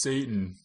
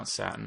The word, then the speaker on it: Satan: Joey gives note-for-note set and dumb ass it's pronounced Satan so I still I still remember that it's like I don't know install I still think it should be for now Saten I mean that's how it's spelled but but